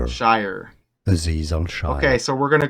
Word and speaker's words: Azeez Al-Shaair: Azeez Al-Shaair or Azeez Shaair. Azeez Al-Shaair. Al-Shaair. Azeez Al-Shaair.